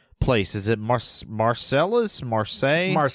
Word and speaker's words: Marseille: Marseilles. Marsai. Marsai.